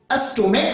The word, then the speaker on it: stomach: यदि उसी सी एच का उच्चारण चौ न होकर क्वा हो जाता है, जैसे मोनार्क हो जाता है, MONARCH, एस्टोमेक हो जाता है, STOMACH, तो यहां पे उच्चारण चौ नहीं हो रहा है, और चौ नहीं होने